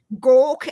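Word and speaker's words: Gauk: do you spell that g-a-u-k as in to gork at someone gork as in to look at someone yeah yeah I got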